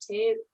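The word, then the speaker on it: Toews: Toewes.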